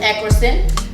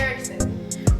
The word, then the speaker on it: Erickson: We got Eckerson. girl. Now you know my last name is Erickson. I said it wrong again. My bad. Erickson.